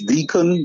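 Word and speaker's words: Dickon: just recently um is is is dikkon that's why it's pronounced his name or decon yes deacon deacon mitchell deacon um first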